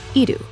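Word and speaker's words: 射る: The kanji for shoot, pronounced idu.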